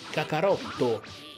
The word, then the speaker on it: カカロット: Perché in teoria sarebbe Kakarotto il nome giapponese di Goku. Cioè, il vero nome di Goku Saiyan e in giapponese Kakarot si legge Kakarotto.